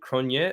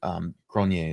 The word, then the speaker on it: Cronje: I say Cronje as well, and I joke because it sounds like saying Kanye, like Kanye West.